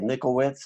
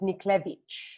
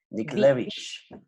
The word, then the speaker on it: Niklewicz: It's a lot better than Niklewicz. It's Niklewicz. Niklewicz, with that little ch at the end, right?